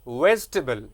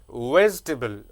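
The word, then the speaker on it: vegetable: नो नो नो, जी के बाद में जो ई आता है वो दैट ई इज साइलेंट, उसको प्रोनाउंस नहीं करना है, तो इट इज वेजिटेबल, वेजिटेबल।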